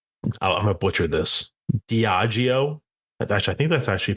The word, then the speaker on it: Diageo: Diageo. Actually, I think that's actually how you pronounce it.